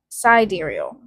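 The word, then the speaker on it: Sideræl: Sidereal, pronounced sidereal. Sigh. Right. According to the musician Grimes, in a Vanity Fair interview, this is an Elven phonetic spelling of the word sidereal. Sidereal.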